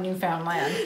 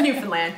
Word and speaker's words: Newfoundland: Even though it's spelled like Newfoundland. Never but call it that. Don't say that. It's Newfoundland.